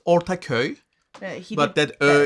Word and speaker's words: Ortaköy: And we went to Ortaköy Did I pronounce that okay? It's fine. It's Ortaköy, He but did that better.